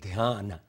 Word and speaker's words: Dhyan: When I was taught, in India it was called Dhyan.